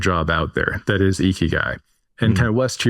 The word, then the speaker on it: Ikigai: By the way, you were pronouncing it correctly. Ikigai, definitely correct.